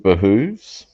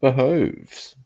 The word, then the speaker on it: behooves: I pronounce it behooves. I believe some people pronounce it behoves. Can't help but think this is one of those scone things.